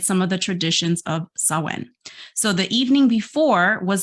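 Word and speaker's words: Samhain: Celtic Festival of ready sawen now I don't know why it's spelled some main but it's sawen so it means The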